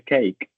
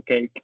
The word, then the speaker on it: cake: Uno dice cake de bizcocho cake y la e no se pronuncia.